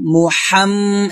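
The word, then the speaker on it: محمد: মুহাম্মাদি মাদি দাল ওদি এখানে গুণ হবে মুহাম মুহাম্মদ এখন গুণ করতে হবে ওয়াজিবু না মুহাম্মাদি ওয়ালা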